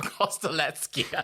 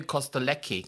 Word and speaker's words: Kostelecky: Well, I didn't pronounce the C as Z. I always call you Costlei cuz I thought CK in a more Germanic sense, but I forgot this is a Slavic name.